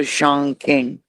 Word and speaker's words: Chongqing: Zhongqing. I don't want to say it like that because it sounds yeah, I think Qing is king. So Chongqing.